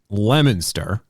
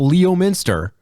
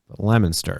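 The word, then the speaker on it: Leominster: of Weds I travel from uh Worcester to lemonster and that's how you pronounce it it's not Leo Minster Leo Minster lemonster and that's uh that's about a 30 minute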